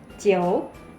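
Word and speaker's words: 九: 9, jiu. Seperti ada O-nya di tengah teman-teman.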